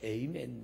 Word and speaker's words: 아멘: 할렐루야로 발음하는 데가 있고요 아멘을 또 다른 말로 에이멘 뭐 이렇게 발음하는데도 있는데 뜻은 같은 겁니다 오늘은 할렐루야가